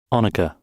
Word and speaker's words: onager: Onager. Honager in English. Anukica. Or onager. Okay. So, there's three pronunciations for it.